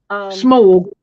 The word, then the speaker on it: Smaug: I pronounce it Smaug, but nobody else does, so it doesn't matter. Smog.